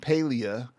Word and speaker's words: Palia: do you pronounce pelia the majority pronounce it paleo but you can pronounce it however you like as long